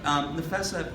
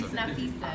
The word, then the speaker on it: Nafessa: Nafessa, have you had any... It's Nafisa.